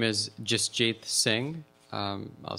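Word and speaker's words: Jasjit: community who are here um my name is justjath Singh um I'll spell it for you j-a-s-j-i-t last name Singh s-i-n-g-h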